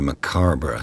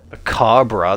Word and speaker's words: macabre: What a macabre souvenir. Macabre? That's not how you say it, surely. Souvenir. It's macabre.